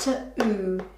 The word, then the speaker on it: to: If we sounded it out, t-o, it would say to, but we want to. So we need to remember that that oo sound at the end is written with an o, okay? So it's pronounced to-oo, to.